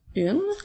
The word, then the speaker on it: une: nous entendons nous avons nous allons commencer par le mot une alors qui s'écrit avec la lettre U qui s'écrit avec n e encore une fois le son e nous ne l'entendons pas il nous permet il